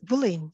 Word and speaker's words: Buling: Its pronunciation is Buling.